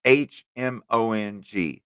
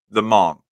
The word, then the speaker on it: Hmong: the Mong yeah the h m o n g yeah you don't you don't actually pronounce the h though it's just m right the Mong the Mong people um